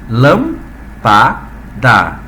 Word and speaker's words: lâmpada: Então, quando a gente pronuncia essa palavra, a gente pronuncia lâmpada, divisão silábica, e a tua tonicidade está em posição de quem? Está em posição de proparoxítona, paroxítona ou oxítona.